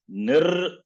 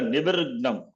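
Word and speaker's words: निर्विघ्नम्: Similarly here also, it is nirvignam. Okay. Not a nivirgnam.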